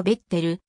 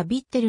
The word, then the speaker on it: Viettel: となるなおべとるの発音はベッテルまたはヴィッテルのほうが近いがホームページで